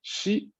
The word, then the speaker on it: し: はい。ちょっと違うですよ。Chi es uno, mientras que shi es otro. ¿Sí se escucha la diferencia? Bueno, pues lo voy a pronunciar nuevamente.